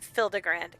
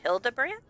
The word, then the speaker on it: Hildibrand: Since parting ways, I've searched every alley and dive bar and ever keep for signs of this Hildigrand character. It's pronounced Hildabbrand.